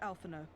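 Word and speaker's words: Alphinaud: Alphino ends with D and the D isn't pronounced, and Onawa ends with T and that's not pronounced.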